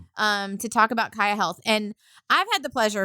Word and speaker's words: Kaia Health: So I guess we're going to we're going to kick it off with uh so I'm going to make sure it's Kaia Health, correct?